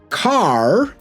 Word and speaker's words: car: So car, we don't really pronounce this R, and the vowel just is quite long.